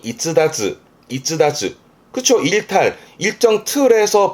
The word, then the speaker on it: 逸脱: 그래서 발음이 이즈다즈.